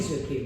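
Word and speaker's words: tsuki: So that k is silent, in Japanese that t is silent too.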